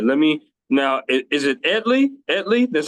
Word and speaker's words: Edly: Is it Edley?